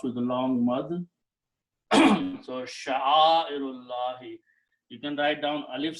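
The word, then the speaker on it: شَعَائِرِ اللَّهِ: And when you pronounce together, you do not pronounce alif in between, it becomes hamzatul wasl. So the combination of the word is sha'airullahi. Sha'airullahi.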